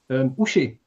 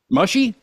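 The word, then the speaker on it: uši: Ushi. Mushy?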